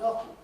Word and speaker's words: often: many of them to put the tea back in. But it's still it's often pronounced often of course but it's still often pronounced often.